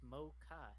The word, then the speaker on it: mocha: mocha mocha mocha mocha it's not an a vowel though it's an O it's mocha not the eight more not ma ma come oak Eddy bass